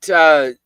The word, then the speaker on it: Festivale: And you've got Festivale. They pronounce the E.